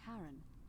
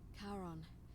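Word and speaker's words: Charon: it's just as you described it only your pronunciation is a little off the name you heard wasn't karen it was c-h-a-r thank you literally spelling it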